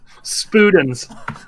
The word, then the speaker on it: Spudens: Leigh has to tell us the pronunciation Yep. of it. S. Okay. P. Okay. U. D. E. N. S. Spudens.